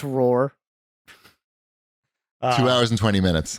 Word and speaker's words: RRR: i don't think that's what it's called it's pronounced roar two hours and twenty minutes on the everything